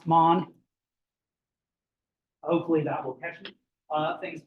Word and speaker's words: Mann: Thomas Mann is how we would say his name in American English, but do keep in mind that his name is, in fact, Thomas Mann.